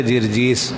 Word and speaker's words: جرجیس: ہے جی، جرجیس نہیں، جرجیس، جرجیس، اس کا صحیح تلفظ ہے جرجیس۔ اس کا لقب کیا تھا؟